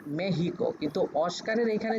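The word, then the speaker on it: México: মেক্সিকো বানান করতে গেলে কিন্তু এম এর পরে যে ই আছে ইর উপরে কিন্তু ছোট্ট একটা এরকম দাগ আছে। তো এইটাকে ওরা বলে উচ্চারণের সময় তখন ওরা বলে যে মেহিক কিন্তু মেহিক।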